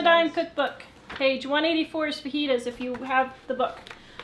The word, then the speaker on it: fajitas: to my mind so why do they spell it like fetas inste I don't know why they felt Jas pronounces like an H in oh shoot there